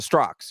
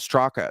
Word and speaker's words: Straka: oh yeah you know it's pronounced struck well so the point is i'm very used to people just assuming that my last name is straca so i don't care